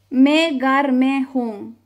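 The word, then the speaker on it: میں گھر میں ہوں: Me gar me gar me hum. Estoy en casa. ¿Vale? Se pronunciaría así. Me gar me hum.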